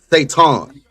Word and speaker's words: Satan: It's pronounced Satan.